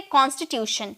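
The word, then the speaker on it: constitution: दो नेक्स्ट है कॉन्स्टिट्यूशन ये आपको टी आई ओ एन दिख रहा है ना तो बहुत लोग इसे बहुत लोग इसे टन में प्रोनाउंस करते हैं क्योंकि ट का साउंड ट टी का साउंड ट में निकलता है ना तो कांस्टीट्यूट कहते हैं लेकिन ऐसी कोई बात नहीं है इसे हम प्रोनाउंस करेंगे शन में ओके हम इसे प्रोनाउंस करेंगे शन में शन में हम बोलेंगे कॉन्स्टिट्यूशन कंटी यहां पर टी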